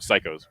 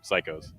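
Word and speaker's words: Cichosz: wrote on the his name see just wrote psychos like p s y c like psych like oh that's literally how you say his name psychos um kocha coach we should learn how to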